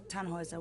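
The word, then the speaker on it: Tannhäuser: what's your name tanhauser we'd pronounce it tan hoyza with an umlaut german roots yes my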